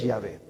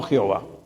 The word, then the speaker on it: Yahvé: se hable de yahvé los últimos estudios han dicho por la pronunciación de los mismos hebreos que la pronunciación que más se acerca es yahvé no Jehová Entonces ya hay algunos